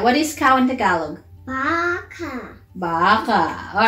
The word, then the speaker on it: baka: Baka. Baka? Like Rebecca? Rebecca? Rebecca? No. Like, if that have the same name as Becca. Becca. Baka. Becca. Okay. Sort of. Does it rhyme? Becca, baka.